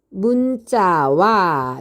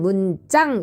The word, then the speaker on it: 문자: 아니함으로 이렇게 해석이 됩니다 이때 여기 있는 문자를 문짱이라고 읽으면 될까요 안 될까요 안 되겠죠 얘는 뭐라고요 동국 정운식 한자음 표기예요 그래서 우리가 읽을 때는 문짱 이렇게 읽으면 안 되고 문자 이렇게 읽으면 됩니다 이때 이응은 뭐예요 종성자리가